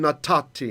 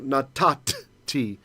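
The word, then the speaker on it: נתתי: So natati is how it would have been pronounced in ancient times. Actually, nathati, but we don't do that anymore.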